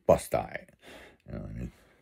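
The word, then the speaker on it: Busti: She called the local town Busty, because it's spelled B-U-S-T-I, and it's Busty. It's literally Busty, you know what I mean?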